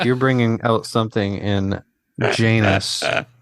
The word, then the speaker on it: Janus: Like, you're bringing out something in Janus, which rhymes with anus, that we haven't seen in a while.